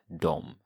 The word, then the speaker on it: dem: It's spelled D-E-M in the formal sense, but you can also take the easy way out and spell it D-O-M, which is the way that it's always pronounced. Till dem.